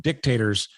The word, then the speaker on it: dictators: And since dictators um a heavy emphasis on the first syllable um are the news, I think you'll enjoy the the top of the charts North Korea style.